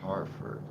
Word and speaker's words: Hereford: Oh, see, that one's hard for me because we have so many Hereford cattle, and we pronounce it Hereford. But you call it Hereford or Harford. You pronounce it different. That one's hard, but I might avoid that city because of it.